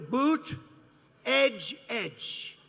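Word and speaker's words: Buttigieg: touch and they said here's what you do boot edge edge say edge like the edge of a building edge edge whoo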